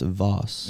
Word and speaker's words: vase: I have a vase. I have a random flag from the BassPro Legends of Golf Tournament. It's It's a little bit of everything. It's pronounced Voss.